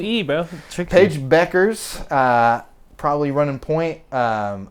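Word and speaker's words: Bueckers: Um, and then team uh Collier, Paige Beckers, who I've been saying buers this whole time, but and you said it right, but I just I don't know. I was just like, it's u broken. Paige Beckers.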